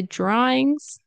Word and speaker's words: drawings: When there's a DR, very often, for me at least, the, I'll pronounce it as a J, and an R sound.